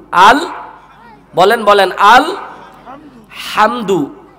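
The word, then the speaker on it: الحمد: আলামিন এখানে আলহামদু আল বলেন বলেন আল হামদু হলকের মধ্যখান থেকে হা এর উচ্চারণ হবে আল হামদু এখানে আলহামদু যদি পড়েন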